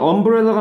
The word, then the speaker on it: umbrella: 그러니까 얘는 umbrella가 맞는 이유가 얘의 발음 기호가 브, 렐, 러 이쯤 돼요.